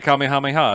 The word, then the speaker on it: Kamehameha: yeah II the kamehameha that I've been informed is should be pronounced Kamehameha they don't know it we don't say it that way they say it caught me how many ha so he does the